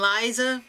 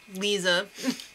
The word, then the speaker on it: Lisa: got whisked away and Liza Lisa I always want to say Liza why can't you spell it like l e e z a Lisa So Lisa and